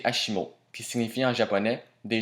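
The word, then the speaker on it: ASIMO: est l'acronyme de advanced step in innovative mobility prononcé hashimo qui signifie en japonais des jambes aussi bien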